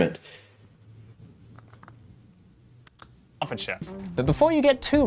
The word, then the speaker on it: Hertfordshire: Okay, and Hertfordshire. See, it's even the sure. I know that I know that what I see as Shire is usually pronounced like sure, right?